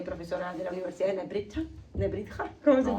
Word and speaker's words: Nebrija: Somos, Paola Fernández, que es filósofa, doctoranda en educación, ahora actualmente profesora de la Universidad de Nebrija. ¿Cómo se No, pronuncia?